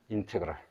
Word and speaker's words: 인테그랄: 이것을 뭐라고 읽을 거냐? 인테그랄이라고 읽을 겁니다. 인테그랄.